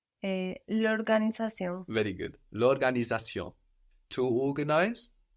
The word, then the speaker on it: l'organisation: And what happens to la organisation when you put them together? I don't pronounce. Show me. L'organisation.